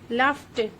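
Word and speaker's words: laughed: टी वाला बनता है लाफ वर्ड में जी एच का साउंड बन रहा है एफ वाला इसलिए ईडी लगाने से हम इसको भी टी की तरह प्रोनाउंस करेंगे जैसे कि नेटिव स्पीकर्स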